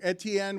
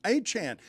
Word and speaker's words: Etienne: We've all been saying his name wrong, Etienne. We have not been calling him Achan. That's the first I'm hearing that his name is Achan.